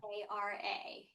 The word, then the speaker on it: Dara: Yes, Dara. Dara. D A R A, yes, Dara.